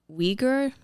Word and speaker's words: Uyghur: pronunciation is tough, but I think one of the pronunciations is Uyghur, the Uyghur people. Okay. It's not spelled with a W or anything. It's just one of the, and there's several different spellings also.